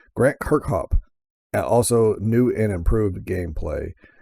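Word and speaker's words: Kirkhope: you say it, and Grant Cricop Kirkhop, sorry, I was reading that wrong. Grant Kirkhop.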